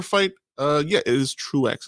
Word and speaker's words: Truax: watching a prior fight uh yeah it is truex it's pronounced so truex so for anybody watching listening i know i'm